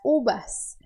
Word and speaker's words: uvas: deve ter percebido que eu fiz aqui isso na letra V eu fiz um som de B nas uvas las Cubas que se você quiser ser bem exigente em como pronunciar a letra V é como se fosse a letra B do português mas um pouco mais suave eu acho que é